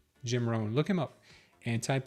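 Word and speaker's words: Jim Rohn: And Jim Ran, Ran is spelled R O H. Jim Ran.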